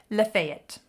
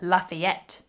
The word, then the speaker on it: Lafayette: We have a town, Lafayette. That is truly how we pronounce it. And if anybody dares to try to call it Lafayette, then they are laughed at as a non-local.